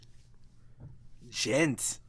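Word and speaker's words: Djent: All about the gent, or the gent, as some people like to still call it because they don't know how to pronounce it. But it is pronounced the gent. That's how Stevie T says it.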